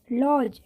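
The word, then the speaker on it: lodge: लॉज, लॉज में भी D silent है क्योंकि डी के बाद जी है।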